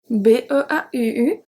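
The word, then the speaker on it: beaux: So if we look at masculine singular, it's beau, B-E-A-U. Masculine plural is going to be beau, B-E-A-U-X.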